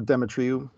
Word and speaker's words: Demetriou: name is Leah my guest today is dimitriu did I pronounce it right sure demetriou Dimitri okay okay and um why don't